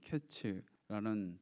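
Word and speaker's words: קץ: 1절에 보시면 여름 과일은 히브리어로 카이츠라는 발음인데, 2절에 나오는 이스라엘의 끝에서 이 끝이라는 원어가 하케츠의 원형인 케츠라는 발음인데, 이것이 유사한 자음을 가지고 있어서 풍성한 과일의 끝이 온다는 것을 말씀하고 있는 것이죠.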